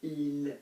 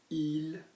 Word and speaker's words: ils: Notice how il, he, and il, they sound identical. Absolutely identical until we start putting vowels after them.